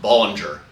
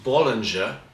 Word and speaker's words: Bollinger: jacqu Bing so I I assure you it's not pronounced Ballinger um even though in America that's probably what you're going to hear or if you're going to hear it in England it'll be Binger Ballinger um but it is Bing uh in France uh